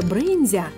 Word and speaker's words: бриндзя: достояння України адже овеччя Бриндзя Так саме з закінченням на я правильно вимовляти його назву так от це не